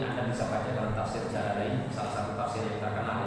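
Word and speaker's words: الجلالين: bisa baca dalam tafsir Jalalain, salah satu tafsir yang terkenal ya. Bukan jalan lain ya, tapi jalan lain ya. Ada orang itu salah Pak bacanya, tafsir jalan lain.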